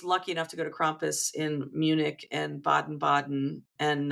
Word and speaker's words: Krampus: I generally say Krampus. Some people say Krumpish, you Krampus.